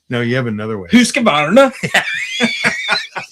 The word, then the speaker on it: Husqvarna: Okay, KTM, Husqvarna, and GasGas.